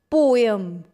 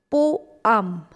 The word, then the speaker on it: poem: We earlier used to call it as poem, but that's incorrect. The correct pronunciation is poem.